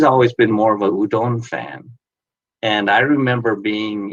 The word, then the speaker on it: udon: away I can't stand it when they say Udan it's udon udon so uh and I've I've one of